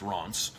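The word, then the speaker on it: Reims: caves that go through reems and apron are reams that pronounce ron's in french and underneath these cities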